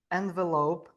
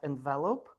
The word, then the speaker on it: envelope: Uh envelope is pronounced by the stress on the first letter not envelope.